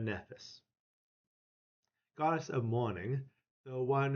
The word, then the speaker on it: Nephthys: Not Nephys, but Nephthys.